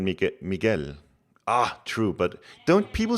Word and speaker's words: Miguel: The U is silent in Mig Miguel.